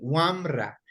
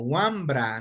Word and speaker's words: wamra: Recordemos que en el idioma quichua la B labial no existe, ¿no es cierto? Entonces, se escribe así, Wamra, pero nosotros lo hemos adaptado en el idioma español y lo escribimos como Wambra, ¿no es cierto?